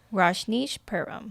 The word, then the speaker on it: Rajneeshpuram: one that I know completely nothing about or pronounce. How do you say it? Rajneeshpuram. Rajneeshpuram.